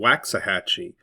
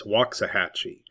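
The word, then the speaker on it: Waxahachie: It looks like it's spelled Waxahhatchee, but it's Wahhatchee.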